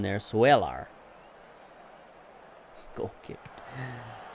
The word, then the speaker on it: Swelar: Swelar. Sure. Like Seller, but he's got a U in there. Swelar.